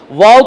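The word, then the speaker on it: וָו: वा is very important वाव को कुछ लोग जो है वो नहीं चाहिए करके बोलेंगे वो साइलेंट है करके बोलेंगे इट can never become silent और उसे उठाकर मत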